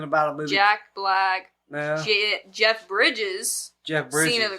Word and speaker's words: Jeff Bridges: happened Harvey kitel and Jeff Bridges keto K you said keto yeah she also said Jeff Briggs is it not Briggs pretty sure it's Bridges oh my God spell